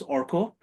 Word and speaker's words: Arka: For those of you joining in for the first time, my name is Orko. It is written as ARKA. The pronunciation is open to global interpretation at this point.